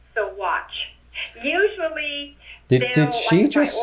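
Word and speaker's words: Saguache: it sounds so weird not saguachi cigwatch i doubt the the last part is actually pronounced but maybe it is i don't know segwatch i'll go with sugwatch we pronounced it so watch usually did did she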